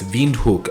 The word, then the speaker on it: Windhoek: in from windhoek namibia it's spelled with a w but the locals pronounce the w as a v so it's veenhook actually it's a german